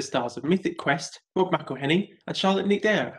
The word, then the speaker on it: McElhenney: Yeah, but people don't realize the A in between the M and the C.